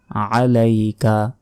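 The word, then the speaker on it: عليك: বিকা ওয়ানাতা তাওয়াক্কালু ওয়ানাতাওয়াক্কালু আলাইকা আলাইকা আইনের উচ্চারণ করবেন আলাইকামিনুবিকা ওয়ানাতাওয়াক্কালু আলাইকাসনি আলাইকাল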